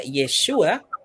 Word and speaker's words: Yeshua: cierto que es yeshua que Jude se pronuncia yeshua como una tras la